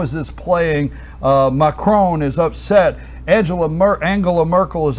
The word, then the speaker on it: Macron: So when you said macaron, I said that last week, and it took me.